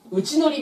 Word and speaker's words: 内法: ねで一方で内のり面積ま内法って書くんですけども読み方は内のりですね内のり面積これっていう